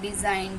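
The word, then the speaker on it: design: जी में silent letter यदि जी के बाद एन आ जाए तो साइलेंट होता है हमारा जी जैसे कि डीई एस आई जी एन डिजाइन डिजाइन में क्या है हमारा जी साइलेंट लेटर है आर ई एस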